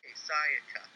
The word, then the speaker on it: Sayaka: Sayaka. Sayaka. Gosh, Cody, you're so American. Syllables, Cody. Yes, Sayaka.